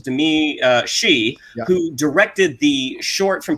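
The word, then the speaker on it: Domee Shi: So this is actually from, I believe the pronunciation is Demi Shi, who directed the short from Pixar, Bow, from 2018, I think, which was a delightful little short.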